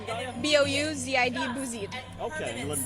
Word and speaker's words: Bouzid: Galia, spell that for me if you would. G-H-A-L-I-A. And what's your last name, Galia? B-O-U-Z-I-D, Bouzid.